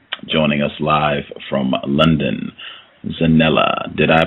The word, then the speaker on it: Zanele: Zanele, am I pronouncing it correctly?